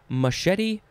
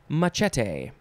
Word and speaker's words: machete: two this synonym is you could pronounce this a couple ways machete or machete uh yeah but that's